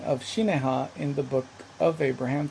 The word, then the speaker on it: Shinehah: that by abraham's time would have probably be been pronounced similar to shi ne ha although they alternate in